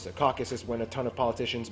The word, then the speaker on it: Caucasus: Eurasia by the way it's pronounced Caucasus not caucus the Caucasus when a ton of